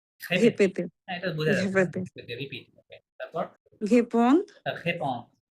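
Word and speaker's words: répété: এই চিহ্নটা থাকলে এ তে রূপান্তরিত হয়, তাই না? এই লেটারের উচ্চারণ। লে পে তে, লাস্ট এ, Repete. হ্যাঁ, এই যে এটা মাঝে আসার কারণে এটাও এ তে রূপান্তরিত হয়ে গেছে। তার এই জন্য তিনটা এ আছে।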